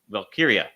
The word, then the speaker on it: Valkyria: really good and I thought it did put valkia did I say it right you did see